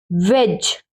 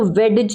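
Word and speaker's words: wedge: वेज, वेज, अब इसको वेडज नहीं बोलेंगे, वेडजी, वेडजी नहीं बोलेंगे, इसको वेज, डब्ल्यू ई डी जी ई, वेज मीन्स कील, ठीक है।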